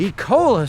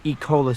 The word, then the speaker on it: Ecola: or ecola state park I can never pronounce it it looks like this so far everyone I have heard say it has said e Cola so that's what I'll stick with for now not only is this